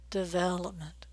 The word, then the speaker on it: development: here is development development we're stressing the second syllable the vowel sound is a as in red and it's really long and clear development don't say development without stressing anything you've got a stress a syllable in each word vowel number 5 is